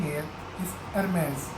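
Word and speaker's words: Hermès: firm's that are not acceptable way of seeing here MS so let's silent page and then is for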